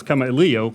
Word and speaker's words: Kamailio: too so now we know how to really pronounce Kam Leo Leo come Leo yeah and that's it y